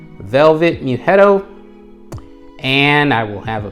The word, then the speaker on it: Mughetto: video, and that is Velvet Muetto. That's how I'm going to pronounce it because to me, that's the best way to do it. Velvet Muetto.